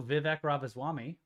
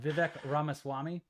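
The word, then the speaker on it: Vivek Ramaswamy: then there was also vivc ravas Swami you butchered that name vivec ramaswami that's right you said ravas swabi no I didn't yeah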